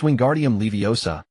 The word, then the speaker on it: Wingardium Leviosa: Your pronunciation of the incantation is off. It's<unk> wingardium leiosa, and the essay should be drawn out long and clear.